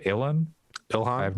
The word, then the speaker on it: Ilhan: Ilhan?